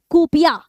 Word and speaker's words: kuppia: तो इसी बेल्ट को ही क्या बोलते हैं बच्चों, ये नोन एज मतलब किस नाम से जाना जाता है, कूपिया, ठीक है, कूपिया।